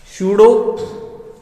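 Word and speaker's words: pseudo: ना छदम उत्कृष्ट गैस विन्यास, छदम उत्कृष्ट गैस विन्यास, शूडो noble gas configuration, शूडो noble gas configuration, शूडो noble gas configuration, शूडो भाई, ठीक है। शूडो में स्टार्टिंग का पी साइलेंट होता है, ठीक है ना।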